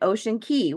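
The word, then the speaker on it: Ocean Cay: were day five we're supposed to be an ocean key which is spelled ocean c y we've been pronouncing it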